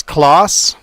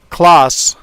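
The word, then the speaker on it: Claas: That makes sense that you'd pronounce it that way if it's a German company.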